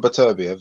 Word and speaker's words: Beterbiev: I call him Beterbiev. That's how we pronounce it.